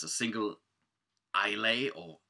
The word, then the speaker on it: Islay: It's a single Islay, or actually it's called Islay or Islay. Depends on if you Celtic or it's a malt.